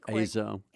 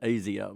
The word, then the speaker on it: Azo: a inexpensive it's really azo it's pronounced azo but my wife calls it azio because it sounds special a-z-o it's a azo